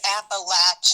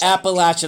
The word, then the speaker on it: Appalachian: Yes, it's Appalachin. Appalachin. I'm sorry. Look at me. This stupid Pennsylvania, Las Vegas, Florida guy mispronouncing it.